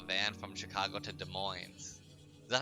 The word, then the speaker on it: Des Moines: I'm pretty sure it's like Des Moines, and then it's like, I don't think you pronounce the S, so it's Des Moines, not Des Moines.